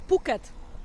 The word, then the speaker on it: Phuket: It was Phuket. Phuket. All right, because there's other ways to pronounce that wouldn't go on a G-rated show.